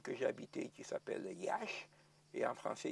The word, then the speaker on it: Iași: Je peux dire qu'en 1941, dans la ville que j'ai habitée qui s'appelle Iași, et en français Iași, ça peut se prononcer de diverses manières, ou Jassy.